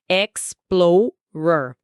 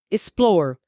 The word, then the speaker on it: explorer: Pausadamente, explorer. A tônica está em plow e em velocidade de conversa, explorer.